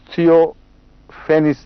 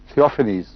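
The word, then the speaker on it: Theophanes: سب سے پہلے حضرت اقدس محمد رسول اللہ پر ایپیلیپسی کا الزام لگانے والا شخص ایک بیزنٹائن ہسٹورین تھیوفینس تھا. تھیوفینیز اس کا تلفظ ہوگا.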